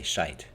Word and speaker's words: shite: Instead of saying shit, they say shite. It's just how they pronounce the word, and often write it as shite.